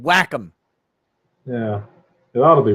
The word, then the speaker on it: Wacom: that'd be a degree it's not pronounced wacom that's stupid whack em yeah it ought to